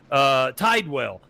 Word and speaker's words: Tidwell: My name is Tidwell. Some people call it Tidwell. Some people call it Tidewell.